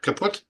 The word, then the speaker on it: Caput: This asterism is part of Serpens Caput. I would think that's how it's pronounced, right, Kurt? Caput? Yeah. Right on.